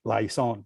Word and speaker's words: Lyson: I'm an Ilonggo, so I'll pronounce it the Ilonggo way, Lyson, right?